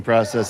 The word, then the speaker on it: process: Probably a product of the coaching process there. Process if you like. Both pronunciations acceptable to me.